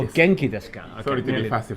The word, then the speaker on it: お元気ですか: genki desu ka? Okay, Sorry to be fussy for the pronunciation.